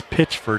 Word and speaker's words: Pitchford: And I really enjoy looking at Nazir Pitchford. I pronounced that incorrectly for about a year. It's Pitchford out there on corner, and he's so long out there.